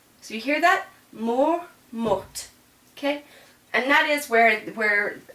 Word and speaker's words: morte: But the feminine, because it's got an E, I'm going to pronounce this last consonant. And so this is going to be elle est morte. So you hear that? Mort, morte.